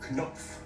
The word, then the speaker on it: Knopf: 끝의 발음 프가 들어간 단어를 보겠습니다. Pfanne. Pfirsich. Knopf.